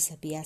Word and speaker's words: sabiá: Sabia que o sabiá sabia assobiar? Então, trabalhando esse trava-língua, vocês já observaram a sílaba tônica e a sílaba átona.